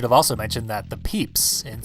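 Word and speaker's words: Pepys: also mentioned that the peeps in samuel peeps is spelled PEP ys against all odds and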